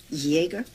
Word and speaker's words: Jaeger: or maybe even Y Jaeger starts with J why would I look under Y should look under J that's the way it's pronounced Jaeger did you tell me